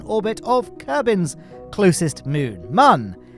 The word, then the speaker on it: Mun: But speaking of moon, here we are in orbit of Kerbin's closest moon, Mun. No, it's not pronounced moon. Everyone think, oh, it's actually pronounced moon because of the umlaut, but the umlaut is